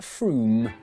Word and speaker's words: Frome: Frome, it should be blitheringly obvious, is pronounced Frome.